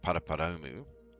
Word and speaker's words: Paraparaumu: to fly from npp which is pronounced paraparoumu so we're going to